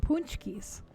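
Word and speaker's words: pączki: to spell it these are pronounced punchy but you wouldn't look at it because polish has a mind of its own and they are amazing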